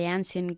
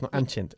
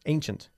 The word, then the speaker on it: ancient: The same sun that shines for us shone for the ancient Greeks. The ancient Greeks, not ancient, ancient. Ancient. Good.